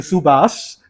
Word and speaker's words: Subhas: it's a silent H and a missing H. Oh, wait. He's got one H there that is silent, and then the one that should be sounded It's is missing. not there. Yes. Just move the H, right? Yeah. Then that would be SUBHAS, right?